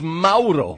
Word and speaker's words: Mauro: It's not Moro. It's not Moro. It's Mauro. Mauro Ranallo.